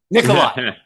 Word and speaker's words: Nikolai: And uh uh Andrew Nikolai, did I pronounce it right? Nikolai. Nikolai.